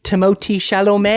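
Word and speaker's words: Timothée Chalamet: A lot of people think Timotei Shalom was snubbed.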